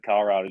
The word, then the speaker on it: Colorado: t-shirt weather 70 in calrado today i know it's spelled colorado or said colorado do you ever see that guy i got a chevy silverado that's why i say calrado you're putting the 71